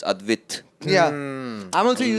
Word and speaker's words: Advit: And so like all my family that stays in Chennai and like other people, they don't pronounce my name as Advit. It's Advit.